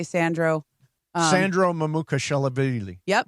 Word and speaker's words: Mamukelashvili: One of the guys I mentioned, the really hard to pronounce guy. I'm just gonna say Sandro. Sandro Mamukelashvili. Yep. Mamukelashvili, I believe.